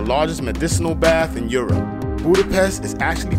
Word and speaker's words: Budapest: Budapest is actually pronounced Budapest in Hungarian.